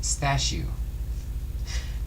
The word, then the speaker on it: Stashu: his son by the Polish nickname stashu pronounced stashu young Stan frequently played